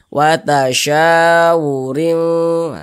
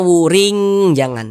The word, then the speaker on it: watasyawurin: Watasyawurin, jangan dibaca wuring, jangan juga dibaca wurin, jangan.